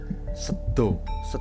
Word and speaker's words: Seda: Sedo Seda, tulisannya Seda, nggak tahu, tidak ada tanda bacanya ya, kita anggap saja Sedo. Tapi Sedo, ya itulah Seda Laut.